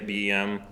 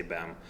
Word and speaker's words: BEM: and bem um I not everybody pronounces them some people say BM they're probably cooler than me I'm going to say Bam um so oh we